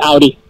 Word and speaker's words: Audi: I used to say it the opposite way until I actually started working for the company, but that's the way the owner presents it, and that's the way it's pronounced. So it's Audi.